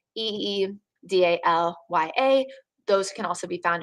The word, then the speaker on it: Idalia: Idalia, that is the next name on the list, the pronunciation Idalia. So Eedalya.